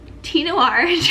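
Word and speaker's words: Thé Noir: of the fragrance duh it's spelt th e but it has like a little thingy over the e so it's like french i think it's french anyway besides the point the noir tinor 29 from lalabo 1.7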